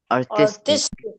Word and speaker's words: artistic: So that means the syllables the stress falls on the first syllable. Artist but to is very artistic.